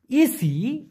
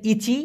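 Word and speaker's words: isi: ইসি, ইসি আপনি যেটা লিখেছেন ইচি, এটা মূলত উচ্চারণটা হবে ইসি, ইসি বারাং।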